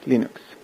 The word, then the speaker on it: Linux: Hello, this is Linu Dvals and I pronounce Linux as Linux.